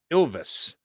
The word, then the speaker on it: Ilves: about this yes so it's a finnish team pronounced ilves and i told fink i'd pump it up